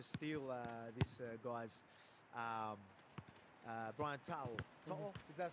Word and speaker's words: To'o: To'o, is that say it right? To'o? Yeah, To'o.